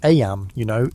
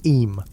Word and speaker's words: Eyam: Eyam, is pronounced just like Eyam.